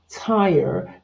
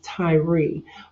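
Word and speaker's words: Tyre: t y r e it's pronounced Tire just like a tire on a car but some people look at it and think that it's Tyrie but Ty was uh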